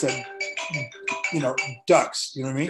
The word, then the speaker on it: Dux: But it just happens that I spell it Dux, and most people pronounce that, Dux.